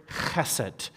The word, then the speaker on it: chesed: It's the Hebrew word chesed, and that's one of the things I love about Hebrew is it gets in the back of the throat, chesed. You have to say it like that.